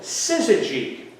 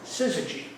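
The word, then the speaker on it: syzygy: high waters during the storm was something called Siz that's spelled s y z y g Y siy and that term describes a Celestial lineup of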